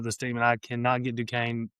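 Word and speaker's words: Duquesne: I can't pronounce this school. I never have. It's Dukane.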